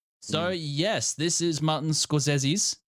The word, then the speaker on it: Scorsese: M s's films um that's actually how you pronounce it is sesi um well I know better than trust you